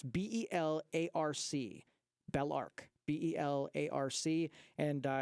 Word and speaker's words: Belarc: How do you spell that? It's B-E-L-A-R-C, BelArc, B-E-L-A-R-C, and it's a free download.